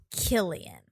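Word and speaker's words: Cillian: Uh Killian Murphy is Killian with the hard K. Okay. Okay. We were It's spelled with a C though, right? Yeah. With a hard spelled with a C with a hard K sound.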